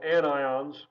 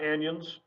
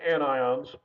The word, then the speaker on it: anions: have negative ions which are called anions again not anyons it's anions and so these are